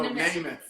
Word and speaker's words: Namath: Did you just say math? No, Namath.